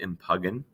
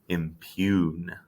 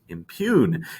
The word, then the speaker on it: impugn: just kidding it's actually you don't pronounce it in pagan you pronounce it impune impune even though it looks like m pagan but